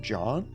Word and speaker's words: Jean: Oh, and the name is spelled Gene, but it's pronounced John? Oh, is it really, Mr. Smiles? I've been saying Gene this whole time.